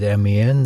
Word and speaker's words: Amiens: But the one I'm going to go with is Amiens. That's the one I hear it pronounced most of all.